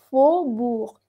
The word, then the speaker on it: faubourg: Esta AO tú la pronuncias como una O. Faubourg, faubourg.